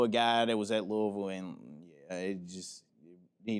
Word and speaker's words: Louisville: right Louisville Louisville Louisville Louisville stop trying to put the Louis in there Louisville Louisville Louisville that